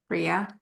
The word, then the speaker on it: Bria: I'm sorry, how do I pronounce this? Is it Bria? Bria, okay, Bria as a long-term mural, as part of the Canvas of Culture initiative.